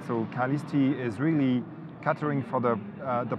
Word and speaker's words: Calisti: Calisti, absolutely.